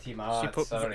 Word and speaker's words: Tiamat: Oh, Tiamat. She put a lot of pronunciation on the mot.